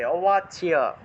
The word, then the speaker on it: অবাচ্য: তারপরে 36 নম্বর, অবাচ্য ওয়াদাংশ্চ বহুন, অবাচ্য চয়ের সাথে জফলা থাকলে চিয় উচ্চারণ হবে, অবাচ্য।